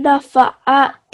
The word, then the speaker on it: نفعت: And then here, not here, inna fa, you have pronounced it like a ha sound. So make sure that the ayn sound comes forward. So try to recite this verse again. فذكر. فذكر إن نفعت ذكرى.